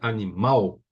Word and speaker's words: animal: claro que eu pronunciaria animal certo a entonação é mais forte nessa última sílaba paroxítona palavra cuja sílaba